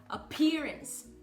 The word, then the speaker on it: appearance: E toda vez é você estar atento, toda vez que você fala o P, no início de palavras e nas sílabas acentuadas, tá? Por exemplo, como appearance, que é aparência, tá? Então, ó, appearance. Eu tô exagerando, tá, gente? Mas esse puffzinho de ar que sai no P é muito importante, tá bom?